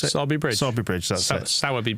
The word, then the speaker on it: Sowerby Bridge: The locals would have you pronounce it? Sowerby Bridge.